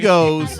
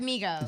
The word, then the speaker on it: Migos: Domingos? I love Domingos. that. Did I say it right? Yeah. Domingos. No, yeah. just Migos.